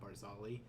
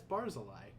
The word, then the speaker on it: Barzillai: we never saw his name, and then as soon as I saw his name, I'm like, that's not Barzali. That's Barzillai.